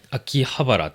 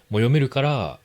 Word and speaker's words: 秋葉原: Và, chữ Hán này cũng có thể đọc là 【秋 (aki)】【葉 (ba)】【原 (hara)】 nữa đấy. Vừa đọc được là 【あきはばら (Akihabara)】, vừa đọc được là 【あきばはら (Akibahara)】, nên là tôi nghĩ có khá nhiều người đọc sai là vì thế.